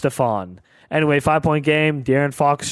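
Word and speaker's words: Stephon: Stefan Castle. Sorry, it's pronounced Stfan.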